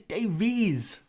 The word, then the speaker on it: Davies: one ben ben davies it's not davis it's davies ben davies he's okay